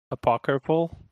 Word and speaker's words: apocryphal: Some of these stories are almost certainly apocryphal, however you pronounce that.